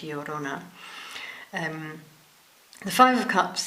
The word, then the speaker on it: Llorona: Mexican folklore I mean it's double l o r o n a so I think that's pronounced like the Spanish yorona um the Five of